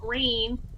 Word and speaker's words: RAINN: They're partnering with the non-toxic benefiting Rain, like I said, from April 13th to the 14th, starting at 12 p.m. Pacific Standard Time. If you don't know what RAIN is, it's spelled RAINN, and it is the U.S.'s largest anti-sexual violence organization.